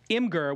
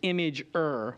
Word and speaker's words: imgur: all right listen uh imer which I'm told is image but I call it imer and I think everybody else calls it imer but it's image um which you guys